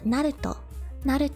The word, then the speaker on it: Naruto: Naruto not at all you pronounce every syllable instead of like Naruto or Naruto if you go Naruto then got reduced or if you say Naruto becomes reduced but it's it's all pronounced it's